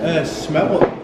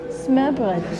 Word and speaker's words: smørbrød: How do you pronounce it again? Smørbrød. Smørbrød.